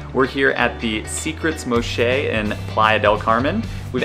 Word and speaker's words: Moxche: First things first, we actually just learned how to even pronounce this place. It's called the Secrets Moxche, and it's here in the Playa del Carmen area. Moxche is actually a Mayan word that means tree